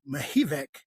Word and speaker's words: Mihevc: And so I'm your host, Tavius Washington, and today I have with me Mihevc. Did I pronounce that right?